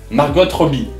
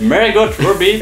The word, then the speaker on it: Margot Robbie: Il y a à l'intérieur de ce cerceau une actrice qui s'appelle Margot Robbie.